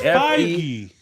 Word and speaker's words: Feige: Okay, how would you pronounce his last name? It's Feige.